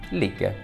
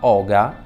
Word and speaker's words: hygge: comfort e il benessere lig pronunciato in realtà Oga lig Come si dice da noi è un metodo danese